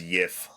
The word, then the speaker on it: GIF: Fun fact: it was something like in the past, a G was said as a Y, so the correct pronunciation for it is Yif.